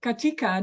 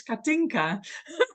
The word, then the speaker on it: Katinka: Are you saying Katika, the word that we are dealing now with, or are you saying my name, which is Katinka?